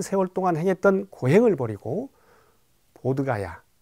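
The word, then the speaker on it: 보드가야: 세월동안 행했던 고행을 버리고 보드 가야 부다 가야 라고 발음하는 곳에 보이스 나무아래 앉아서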